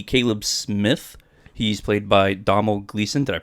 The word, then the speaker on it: Domhnall: He's played by Domhnall Gleeson. Did I pronounce that right, Kyle? Domhnall.